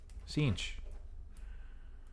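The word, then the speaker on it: Sench: if I was to spell it I would spell it s e n c h cinch okay cool cinch sky thank you so much it's interesting if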